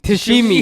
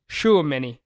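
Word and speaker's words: Tchouaméni: Tashimi, yeah. Tashimi? Because I have heard announcers say Tashimi. So I thought that was his name, but it is Shuameni Yeah. because he's French.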